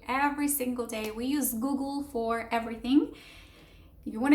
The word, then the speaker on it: Google: And so you basically, the first syllable is goo, and then the second one is almost like the G and the L with no vowel at all. It's a schwa, but you can get rid of it basically.